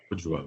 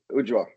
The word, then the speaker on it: Ujwal: Ujwal. Am I saying that correctly? Ujwal.